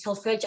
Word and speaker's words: solfeggio: back on again and asking me about these solfeggio. Am I pronouncing it right?